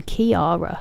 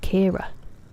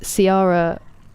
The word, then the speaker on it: Ciara: Wait, it's not even Kiara. It's just Kira. It's just two syllables. Kira. Not that my nephew can say it, so you're not alone. But Siara or Sierra is um the American way of pronouncing it.